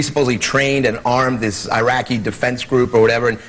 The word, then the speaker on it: Iraq: protect them so and we never even pronounce the country right and we called it Iraq it's not Iraq it's Iraq Rock sounds like that's not the point